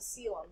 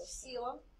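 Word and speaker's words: coelom: And I see the next one is called a sealum. That's how that's pronounced. So sealum.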